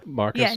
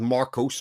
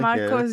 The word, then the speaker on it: Marcos: Yeah, Marcus. Oh, yeah. Yeah. I kept waiting. Sorry. Go ahead, Chris. I was going to say his name's Marcos. That's his name. Marcos.